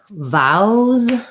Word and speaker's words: vowel: We have a question about vowels versus vowels. So vowel is just going to be like our earlier word bowel, where we have the ow and then the wool.